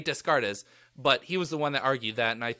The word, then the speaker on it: Descartes: actually made it and I know how to pronounce his name it's not to discard artists yeah yes Rene descartes's but he was the